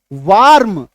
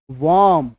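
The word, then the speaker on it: warm: आर ए वम वार्म वम ठीक है यह उच्चारण करना है क्लियर है तो ये ए और आर मिलकर के आ बन जाता है आकार की मात्रा र का उच्चारण हम लोग नहीं करेंगे इसको फिलहाल आप लोग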